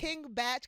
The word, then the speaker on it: King Bach: It's King Batch cuz his last name is Bachelor.